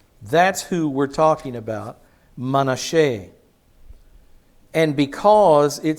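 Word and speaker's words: Manasseh: the South ever had his name is manhe you might pronounce it manasse and manasse was so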